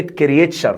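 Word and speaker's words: creature: دراسي كورس يعني وكلمه كريتشر خد بالك التي يو في اللغه الانجليزيه بتتنطق تشا التي يو في الانجلش دايما بننطقها ايه يا جماعه تشا فركز وانت بتنطق كده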